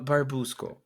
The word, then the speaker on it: Barbusco: your team name just that I have the pronunciation correct Barbu school yeah it's verbal is like it's a mishmash